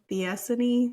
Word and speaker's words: Theophany: Theophany, or how are we pronouncing her name? Theophany. Yeah, whatever. Stephanie with a lisp. Stephanie with a the.